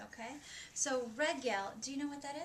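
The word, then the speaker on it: רגל: But really the Hebrew R sound is a little bit different. It's at the back of the throat.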